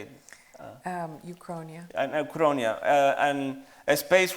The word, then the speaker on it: uchronia: Uchronia.